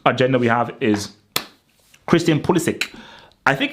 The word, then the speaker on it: Pulisic: So the next agenda we have is Christian Pulisic. I think it's Pulisic because people think it's Pulisic, but I believe there's an interview or something